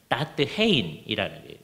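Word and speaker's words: Datheen: 아주 대표적인 사람이 페트루스 다테누스 또는 다트헤인이라는 같은 사람인데 이게 라틴어로 하면 다테누스고요. 화란어로 발음을 하면 다트헤인이라는 사람인데 이 사람은 화란 개혁파 교회의 예배 의식에 토대를 놓은 사람이다.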